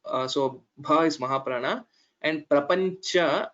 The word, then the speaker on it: प्रपञ्च: So Bha is Mahaprana and Prapancha, it is Cha and not Ja. Maybe I heard it as Prapancha, so it was not clear pronunciation of Chakara.